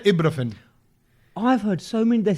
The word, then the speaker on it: ibuprofen: Ibuprofen. And I did ibu, like a view. Ibu. What Ibuprofen. is the way to say this word? Don't no say one knows. Don't say ibuprofen.